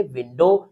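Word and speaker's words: window: अर्थात W letter जो है वो साइलेंट रहता है। जैसे डब्ल्यू आई एन डी ओ डब्ल्यू इसको हम पढ़ेंगे विंडो।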